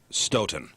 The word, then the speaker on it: Stoughton: by the way, says it's pronounced Stoughton. Stoughton? Does Brian live there? Oh, okay. Thank you, Brian. Stoughton, Wisconsin.